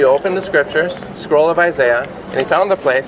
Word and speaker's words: Isaiah: Isaiah. Right. Or Isaiah, as the Brits say.